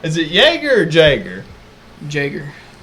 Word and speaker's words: Jäger: Jager. So you pronounce the J?